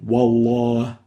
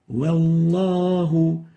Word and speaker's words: والله: So they say wallah. And the right way of pronouncing it is like this. والله Wallahu. So we don't velarize the wow.